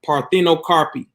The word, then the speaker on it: parthenocarpy: Okay, so the first word I'm gonna throw out is what they would call parthenocarpy, and I'm gonna spell it. Okay, parthenocarpy is PARTHEON. Okay, CARPY, parthenocarpy, and that's a Greek word.